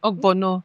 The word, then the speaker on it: Ogbono: Ogbono, not lo. Oh, wait. Is it Ogbono soup?